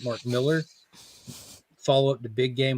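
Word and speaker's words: Mark Millar: the next number but Martin Miller is back or how he pronounces it Mark Miller follow up the big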